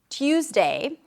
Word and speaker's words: Tuesday: And every time I would say TOOZ-day, which is how I learned how to say it, he would make fun of me.